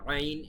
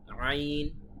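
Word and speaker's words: عين: গুরুত্বের সহিত উচ্চারণ করবেন আইন এটা কিন্তু বাংলায় এরকম উচ্চারণ আমাদের নেই শুধুমাত্র আরবিতেই স্বতন্ত্র গলার ভেতর থেকে বলতে হবে আইন আইন আইন এভাবে তারপরে আমাদের যেটি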